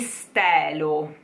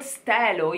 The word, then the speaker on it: stelo: Even the word stelo, you would find it very often, stelo. People from the north of Italy, they would pronounce it more than often, stelo, okay? So you will hear it a lot.